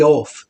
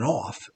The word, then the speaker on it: Eoff: Uh but his name is Grady Olf. It's spelled EOFF. I guess it's better than off. But it's Olf. Grady Olf.